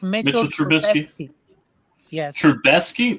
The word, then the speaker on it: Trubisky: That was the last appearance with Trubisky, yeah.